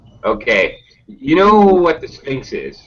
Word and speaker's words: Sphinx: Okay, this is a ridiculously hard word to pronounce. It sounds like S and then F. Sphinx.